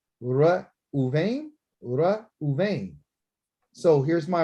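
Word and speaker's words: ראובן: And you know, the Ra'ah means to see, and Bain means son. I see his son, and that's what his mother named him. Once you be able to say his name, Ra Uven or Uvain, Ra Uvain, Ra Uvain.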